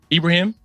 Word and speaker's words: Ibrahim: his name is ibrahim how do you pronounce your last name that's correct yeah yes sir ibrahim yeah you said it right sounds good how's everything